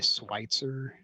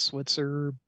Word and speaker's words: Switzer: the Kansas side and it's Switzer Road uhuh except that they say schwitzer really yeah because of course I would call it Switzer because it's I've always